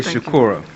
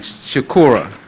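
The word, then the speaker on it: Shukura: My name is Sobukwe Shakura, and I am spell it? Okay, S-O-B-U-K-W-E, like Mangalisa Sobukwe. Can you say it again? Sobukwe, S-O-B-U-K-W-E. And Shakura, S-H-U-K-U-R-A.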